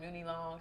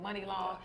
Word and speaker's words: Money Long: I was like Mooney Long. She said no, it's Money Long.